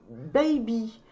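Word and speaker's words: Bybi: Donc voilà, on a en plus un contour pour les yeux et Clarity Clean de Baby. Ça s'écrit B-Y-B-I.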